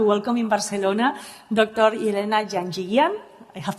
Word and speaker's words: Janjigian: Elena Janjigian. I have pronounced it well.